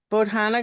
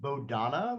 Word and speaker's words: Bodhana: and Jack from the bohana group is that how you say it uh it's uh it's actually pronounced bodonna like uh we always say like the old Ritchie Valens song Oh Donna yep so I sometimes